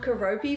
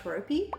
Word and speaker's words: Keroppi: And it was this girl who found Keroppi for the first time. I think that's how you say it, Keroppi.